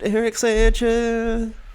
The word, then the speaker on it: Eric Sanchez: i am joined today by none other than eric sanchez is that am i saying that right yeah saying it right eric sanchez yeah that's it well that's that's an interesting